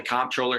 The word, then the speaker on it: comptroller: don't know what the controller's job is some people call it the comptroller some people call it the controller there's not even agreement on what how to pronounce the the the title uh but